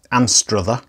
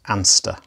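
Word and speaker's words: Anstruther: h e r so some people pronounce it and struther but i'm reliably informed that the correct pronunciation is anster so it carries the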